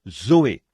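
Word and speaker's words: ζωή: sert du même mot que l'on prononce Zoé Z o e Zoé la vie et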